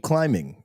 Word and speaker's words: climbing: Why do you keep putting keep climbing on these? If there's a silent B in climbing for those that uh that don't know, clearly I just missed that.